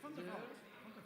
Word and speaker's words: Van der Vat: It's like a Just say Vanderwall. Vanderwall. What does it mean? I would say fun. Fun? Well, it's Van der Vat.